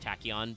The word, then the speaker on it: Tachyon: they write the kanji for the meaning of tachon is spacetime um they do still say in like the pronunciation that it's pronounced tachon but calling it SpaceTime dragon is like nah